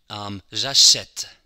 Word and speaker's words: achète: It's a very open E, like in the English word help. J'achète, help. La mère, help.